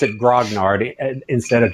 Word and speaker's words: grognard: i would have no oh yes i do pronounce it grognard instead of guanyart which you know we've talked about this on the show the grognard is is the correct pronunciation even if you